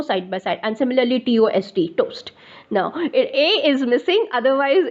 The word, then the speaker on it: TOST: And similarly, toast. Now, A is missing, otherwise it is pronounced as toast only, TOST, equivalent test.